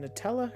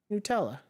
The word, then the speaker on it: Nutella: right there we go how do you say Nutella let's see here Nutella Nutella Nutella Nutella according to Google Nutella so you know what